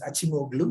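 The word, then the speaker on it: Acemoğlu: And especially two people, the Turkish economist Acemoglu and David Otter. The right way to pronounce the Turkish name is Acemoglu.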